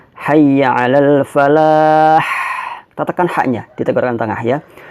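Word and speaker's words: حي على الفلاح: perlu berkecil hati ya maka Bacanya adalah Hayya Alal Falah tekan hanya kita tengah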